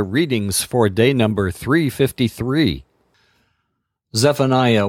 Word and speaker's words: Zephaniah: Now we turn to the book of Zephaniah, or as I will pronounce his name, Zephaniah.